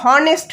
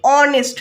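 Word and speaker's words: honest: নেক্সট হচ্ছে অনেস্ট ম্যান, আমরা কিন্তু হনেস্ট ম্যান বলছি না, বলছি অনেস্ট ম্যান। তো দেখো এখানেও এইচের উচ্চারণটা সাইলেন্ট হয়ে যাচ্ছে, সেই জন্য এর আগে অ্যান বসবে।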